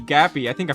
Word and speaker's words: Gappy: because it increases your generation and after doing damage that you can just max out Cappy, not Cappy, Gappy, I think I pronounced him wrong, as fast as possible.